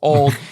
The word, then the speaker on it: Auld: Ultimate Disc League, but it's pronounced old.